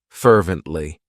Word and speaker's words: fervently: of my favorites fervently it has three syllables and the stress is on that first syllable fervently what it means is